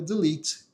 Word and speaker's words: delete: E a pronúncia certa dessa palavra é delete.